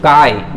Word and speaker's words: chi: This is pronounced as chi.